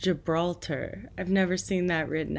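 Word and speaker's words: Gibraltar: here it's on the Iberian Peninsula and it's pronounced Gibralter I've never seen that written out anyway back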